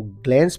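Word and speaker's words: glance: meaning है देना give American English में इसे हम ग्लेंस प्रोनाउंस करते हैं और ब्रिटिश इंग्लिश में ग्लांस ग्लांस कहते हैं किसी चीज को जल्दी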